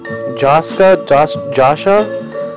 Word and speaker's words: Jascha: Jascha, like Joshua Heifetz, Horenstein conductor.